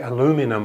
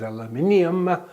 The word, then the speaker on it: aluminium: And aluminium, the Americans say aluminum, of course, but its correct name is aluminium. We don't say sodium and potassium. We say potassium, sodium, aluminium.